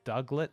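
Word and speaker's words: Diglett: Duglet, spelt with a D-I-G, but pronounced like a Woody.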